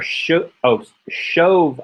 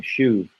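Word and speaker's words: שׁוֹב: Vayomer shov ashuv. I probably pronounced that wrong every time I read it. I'm so used to seeing shuv, but it's shov ashuv.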